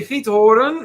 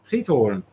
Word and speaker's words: Giethoorn: Raphael thinks it might be Giethoorn. No, it's not Giethoorn. No. I can't even say that. Giethoorn. Yeah. Anyways, it is. Sounds like keep pouring. No. Just let me do the Dutch pronunciation.